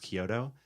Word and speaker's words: Chiodo: Uh Lisa Kyoto, but online it's ch. you spelled with a ch but pronounced Kyoto and Eli Coleman.